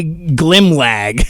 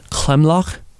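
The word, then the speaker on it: glimlag: it's a south africa it's an afrikaans word yes so uh in afrikaans it's pronounced clem lock so okay it's c-l-i-m-l-a-c-h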